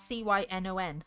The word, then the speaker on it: Cynon: So this one is called Synon's Ghost. Close to your name. But it's spelt with a C. It's Cynon. Synon.